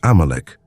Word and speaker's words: Amalek: In Hebrew, it is pronounced Amalek, and in both Hebrew and Aramaic biblical texts, they are described as Israel's sworn enemies.